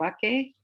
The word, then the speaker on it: Bakke: Bakke?